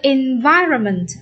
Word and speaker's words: environment: Câu C, environment, environment. Nhấn âm 2.